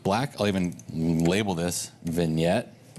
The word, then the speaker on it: vignette: I'll even label this vignette not spelled like it sounds I can spell today